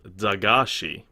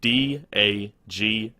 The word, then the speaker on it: Dagashi: It's of an anime called Dagashi. It's spelled D-A-G-A-S-H-I.